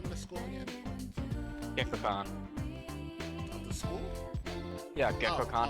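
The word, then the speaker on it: Gekkoukan: Gekkokan.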